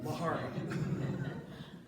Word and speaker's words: Laughery: be sure they knew how to say his last name lari because that's a thing